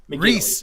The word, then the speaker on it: Rhys: see mcginnelly mcginley i think it's no it's rhys mcginley reese it's r-h-y-s wow yeah yeah yeah the name